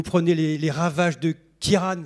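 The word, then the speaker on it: Ciarán: les les ravages de Kiran c'est comme ça qu'on prononce et de Domingo estimé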